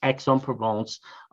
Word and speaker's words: Aix-en-Provence: Hope that answered your question, but it is Aix-en-Provence, in case you're worried about the pronunciation.